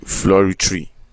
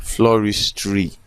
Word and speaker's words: floristry: Floritry. Yes. Oh god, I went to school. Yes. Oof. Not a waste of money. So floritry. I think floristry. Ah, god, floristry. That should be flower or something.